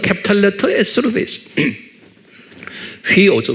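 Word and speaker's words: υἱός: 휘오스, 후이오스 또는 휘오스라고 휘를 후이라고 제가 가끔가다 여러분들에 말하죠. 정확한 발음은 휘오스.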